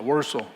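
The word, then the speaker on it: Warsaw: 월소. 그까 W라는 발음이 V도 되고 우도 되고 그렇게 해서 바뀌어요.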